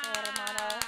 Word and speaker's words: Teremana: How do you pronounce it? Terramana? Teremana.